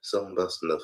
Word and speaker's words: Soul Bossa Nova: And spared Soul Bossa Nova.